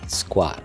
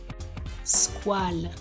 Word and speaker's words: Squale: Yes, it's pronounced Squale, the French for shark. Squale, Squale.